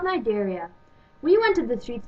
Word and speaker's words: Cnidaria: Nidaria? Actually, Shirley, it's pronounced Nidaria, but good try anyways.